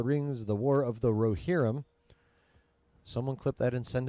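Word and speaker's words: Rohirrim: Lord of the Rings The War of the rerum someone CLI that and send it to Josh it's pronounced rerum excuse me being tighter than expected pause 2024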